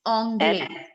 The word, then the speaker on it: anglais: It's anglais.